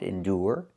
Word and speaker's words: endure: Endure. We have the sound endure.